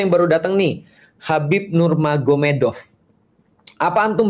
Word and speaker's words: Nurmagomedov: Jadi tulisnya Magomet tapi bacanya Mahomed kan gitu kan ya. Jadi Nur Magomedov itu jadi nur mahed.